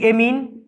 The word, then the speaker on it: amine: बेटा bond एंगल में ध्यान रखना, 1 डिग्री एमीन, या बेटा एमाइन भी कहते हैं इसको, स्पेलिंग के हिसाब से इसका एंगल सबसे छोटा।